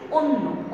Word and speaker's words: অন্য: যেমন অন্য, এখানে অ আছে এবং তারপর নয়ের সঙ্গেটি জফলা আছে, তাই এই অ এর উচ্চারণটা আমি কি বলছি? ও এর মতো করে। আমি কিন্তু অন্য বলছি না, আমি কি বলছি? অন্য, অন্য।